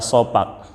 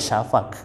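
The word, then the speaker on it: شفق: Arabnya disebut dengan syafaq kalau dulu orang-orang tua kita menyebutkan dengan bahasa sofa sofa merah datanya kan eh pronouns Nia itu cara pengucapan sebetulnya dalam bahasa Arabnya Safa eh kan cuma karena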